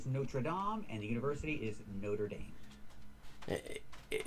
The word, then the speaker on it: Notre Dame: is called the Notraam Cathedral. Dom, not dam. And this is a university and this is spelled the same but we pronounce it differently. It's in the United States. It's called Notre Dame.